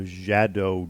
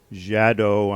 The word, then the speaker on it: Xadow: of thing called the jadow doino um I hope I'm pronouncing that correctly the it's spelled x a d o w and I'm I'm pronouncing it jadow I'm hoping that I